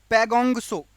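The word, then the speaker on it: Pangong Tso: गए हैं उसमें से पैगोंग सो ये खारे पानी की झील है। यहां पर टी या ता साइलेंट होता है, तसो नहीं बोलते, सो बोलते हैं।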